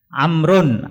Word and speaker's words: Amr: Bin as itu bacanya kalau ada wawunya amrun Amr Amr kalau enggak ada wawunya bacanya Umar nah ini kelihatan kalau